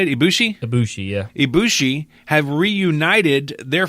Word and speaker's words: Ibushi: Ibushi, yeah.